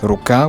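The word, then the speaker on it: рука: let's use the word hand ruka with the stress on the second syllable but if i want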